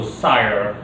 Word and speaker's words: Seir: s e a r or uh s-e-i-r so sire basically uh you can use